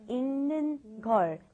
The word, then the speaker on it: 읽는: Be very careful with the pronunciation. You want to think of it as saying this right here. ing, okay? ing, like ing in English, okay? 읽는 걸, 읽는 걸, 읽는 걸, 읽는 걸.